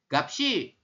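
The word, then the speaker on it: 값이: Jadi siot ini tetap dibaca, pindah ke sini. Jadi kita bacanya gapsi.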